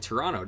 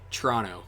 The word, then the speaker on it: Toronto: The amount of royal blue reminds me of reminds you of Toronto, don't it? Or is it Toronto, right? I pronounced it the American way, and then I had to correct myself.